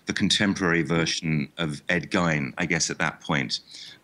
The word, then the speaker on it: Gein: contemporary version of Ed Gein, I guess, at that point in time. It's, by the way, it's not German. It's Scottish. It's shortened from McGean. So the correct pronunciation is not the German one.